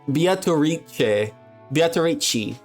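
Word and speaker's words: Beatrice: what do we say it again is that beat bichi that's how they pronounce it all right well ladies and gentlemen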